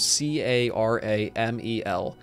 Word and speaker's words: caramel: And before we leave, I will answer the question, how do we say the word C-A-R-A-M-E-L? That right there is pronounced caramel.